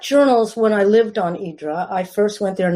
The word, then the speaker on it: Hydra: Hydra, first of all, when you live there, it's called Hydra, which is the Greek pronunciation. That differentiates us from the tourists, because the tourists always say Hydra.